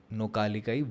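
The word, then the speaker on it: Nohkalikai: बताता हूं प्लेस का नाम क्या है इट्स नौका लिकाई वाटरफॉल नौका लिकाई वाटरफॉल नौका लिकाई नौका लिकाई वाटरफॉल ओके वहां का मतलब प्रोनाउंस करने में काफी दिक्कत आने वाली है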